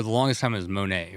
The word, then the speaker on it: Monē: There's no real way to say it wrong. So okay, we say money most of the time. Moni is kind of another funny take, but Moni.